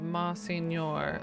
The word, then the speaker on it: Monsignor: French, Italian, GN, Portuguese, and H all represent the same NY sound. So English adapted pronunciation along the lines of Monsignor. Okay. Monsignor.